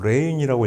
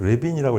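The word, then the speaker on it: Lewin: 그 다음에 이제 요 30번 커트 레빈을 보면 그것도 뭐 알파벳 생긴 대로 레인이라고 읽어놨어요. 사실 커트 레빈이라고 읽어야 되죠. 이제 이 사람이 독일 사람이거든요.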